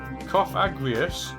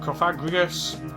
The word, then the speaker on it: Cofagrigus: notoriously bad at pronouncing cough aggrious not cough aggregates coefficients all of these are ways that people do say this pokemon's name you don't say the word in it that that's the hint anyway our mummy pokemon